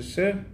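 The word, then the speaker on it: שיר: Shir, à la base, dans la Mishnah, c'est pas exactement la même prononciation, c'est Sher, sous-entendu, le collier qui porte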